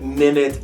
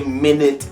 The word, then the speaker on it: minute: So the first is minute, which speaks to the time. The second is minute, which simply speaks to small.